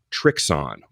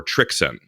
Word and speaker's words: Trixon: is an interesting one I believe I have been I don't want to say pronouncing it wrong but I've been pronouncing it the very American way but we're talking about trixon or trixon so German brand I